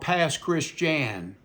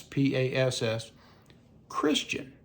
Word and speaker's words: Pass Christian: in a town called Pass Christian. It's spelled like Pass, P A S S. Christian. C H R I S T I A N like Pass Christian. But somehow it became Pass Christian.